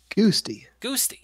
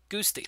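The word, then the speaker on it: Guasti: G-U-A-S-T. T-I. Goosty. Yeah, that sounds better. Goosty.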